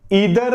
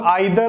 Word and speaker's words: either: या जिसको हम लोग आइदर और भी कहते हैं। ठीक है, देखिए ईदर और आइदर और ये एक्चुअली क्या होता है, इंप्रेसिव बनाने के लिए लोग प्रोनाउंसिएशन करते हैं।